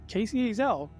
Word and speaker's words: Kacey Ezell: be sitting down with none other than author Casey AEL hello did I say that your name right